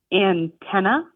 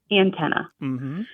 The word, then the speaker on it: antenna: So the way I say it, antenna, ANTEN, like the number 10, UH. Antenna. And he says it antenna, like an apple, and then tan, like I was just at the beach and